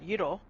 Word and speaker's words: gyro: and the meat the meat is called a euro which people pronounce gyro yes yes which is